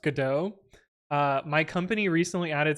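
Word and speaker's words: Godot: I'm I'm glad that I know that it's pronounced gdau uh my company recently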